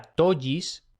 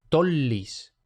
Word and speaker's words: tollis: Dos L's no se pronuncia como en español. No sería tollis, sino que se pronuncia una L doble. O sea, tollis. No tolis, no tollis, sino tollis.